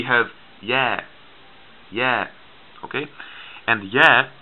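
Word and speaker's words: ي: yeah yeah okay and yeah it is like the letter y it goes yeah and just like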